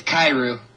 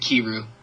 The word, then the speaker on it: Kairu: It's Kairu. Kairu. It's Long Eye. Sorry, I get annoyed when people pronounce it Kiru.